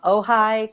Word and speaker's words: Ojai: liked it too and then linda morgan from ojai california good job pronounce that right yeah you did a good